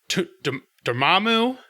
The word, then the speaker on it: Dormammu: Mordo Dormammu.